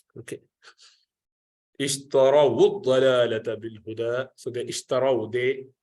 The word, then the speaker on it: اشتروا الضلالة: So ishtarau, and then when this wow needs to be connected to the dad, which is mushaddad, the first dad is silent, sakina, so you have to combine together to do dhamma. Ishtara wud-dalalata.